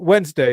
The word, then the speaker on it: Wednesday: lose count pretty quick Wednesday is a tricky one yeah it's a tricky you think it's three because that's how they teach you how to spell it it's actually two it's one of those